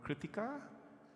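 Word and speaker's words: Krittika: things on the critic remember kritika rhymes with critical critical critical it's not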